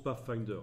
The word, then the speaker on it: Pathfinder: de fenêtres pas facteur ça se prononce pas finder si vous pouvez pour